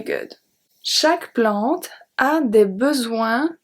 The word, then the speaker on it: besoin: Chaque plante, we saw that, the E is silent, a des besoins. A des besoins. So here we jump to besoin where the S is silent.